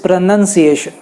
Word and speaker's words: pronunciation: और जो noun form है उसमें नन आती है तो आप NUN कहते हो, तो none. So इट इज प्रोनंसिएशन।